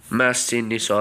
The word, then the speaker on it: Massinissa: Massinissa, that's how you say his name.